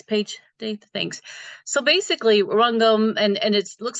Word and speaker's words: Rangam: So basically, Rangam, and it looks like Rangam, but we're pronounced Rangam.